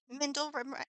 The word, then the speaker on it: Mindle: I got to say it right. Mindle rhymes with Kindle.